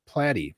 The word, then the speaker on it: Platty: is your name pronounced he was able to uh to provide the information that it is in fact platty so um I have